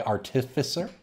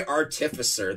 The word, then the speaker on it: Artificer: Lord High Artificer? Yep. Urza, Lord High Artificer. That is the correct pronunciation for that card. It's not Artificer, it's Artificer. Nor is it Artificer or Artificer.